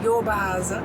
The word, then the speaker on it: Jobaháza: found one in a place called, get my pronunciation correct, Jobaháza.